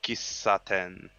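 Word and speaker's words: 喫茶店: of the time you're almost adding that double consonant to like the first the letters that came before it yeah yep so it's like kisaten very good kisaten so kisaten is teahouse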